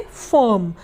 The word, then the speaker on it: firm: उसी तरीके से फर्म, FIRM, फर्म। फर्म में भी I है और I के बाद R है तो I का उच्चारण अ होगा। तो F को हिंदी में